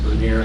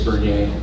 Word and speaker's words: Bernier: I pronounce it Bernier. The French is Bernier. Both are correct.